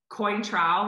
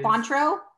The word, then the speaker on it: Cointreau: recipe is uh tequila coin trowel which i know i'm not pronouncing it properly but it's like an orange liqueur that is quantro yeah that cointreau thanks